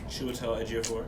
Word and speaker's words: Chiwetel Ejiofor: Chiwetel Ejiofor. Did I pronounce his name right? Chiwetel Ejiofor, yeah.